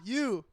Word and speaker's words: Ayu: like Ayu. You spell it. AH space YOU.